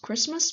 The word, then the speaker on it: คริสต์มาส: and then christmas just christmas but we did not pronounce the t so we just say christmas or actually christmas we